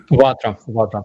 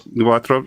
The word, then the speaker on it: Vatra: All super chats are going to be going to is it Vatra? Is that how it's pronounced? Starsky? Vatra. Yes. Vatra.